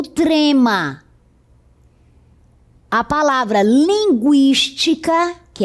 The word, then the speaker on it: linguística: 50, linguística, consequência, frequência, tranquilo. Note que a pronúncia continua sendo a mesma, com o U.